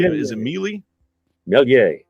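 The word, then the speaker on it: Méliès: you know how to say is it Mee melier melier that's right uh this one is an interner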